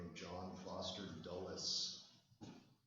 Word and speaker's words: Dulles: President Eisenhower's Secretary of State is a man by the name of John Foster Dulles. It's spelled like this: D-U-L-L-E-S.